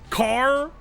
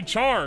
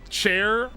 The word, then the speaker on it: char: What the hell do you say? Car? Because it's character? Care? Or it'd be care, not car. You say care? No, you don't. You say char, because that's what it's spelled like. You don't say int/4, motherfucker. Chair? You do not say chair! There's no way!